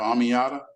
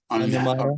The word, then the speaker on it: Onyemata: I think we have Amiata. I Yeah. think I said his name wrong. Onyemata.